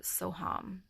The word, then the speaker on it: Soham: actually do the mantra Soham spelled s o space and that's H a.m. but it's pronounced hum so in my mind